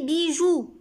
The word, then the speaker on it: bijoux: pas un bijou des bijoux plusieurs bijoux c'est le mot est au pluriel x ici ma c'est la marque du pluriel ou ne prononce pas x alors libye joue